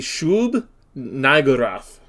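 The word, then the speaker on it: Shub-Niggurath: from Overlord, is, and I'm gonna have to really, really enunciate it, but it's the Shub Nigurath. It's actually how you're supposed to say it.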